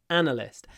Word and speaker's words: analyst: often translates as analyst stress on the first syllable analyst and this phrase data